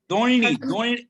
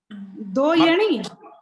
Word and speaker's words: दोइनी: हाँ, दोइनी स्पष्ट उच्चारण होना चाहिए। दोयणी नहीं, दोइनी डबल ना है ना।